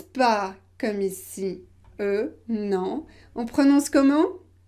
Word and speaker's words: eu: conjugué au passé composé est là on ne prononce pas comme ici euh non en prenant ce comment nous prononcer u j'ai pu j'ai eu c'est différent hum hum hum hum la position